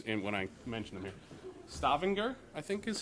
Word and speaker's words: Stavanger: Stavanger, I think is how you say it. Stavanger, thank you.